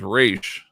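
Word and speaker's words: Ra's: The more Arabic pronunciation, Raz. The official DC pronunciation of Raz is Raish.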